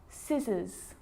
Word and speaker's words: scissors: depth and doubt now the letter C can cause a few problems because it's often silent after the letter s like in these very common examples they're quite tricky muscle muscle scissors fascinate scene scenario muscle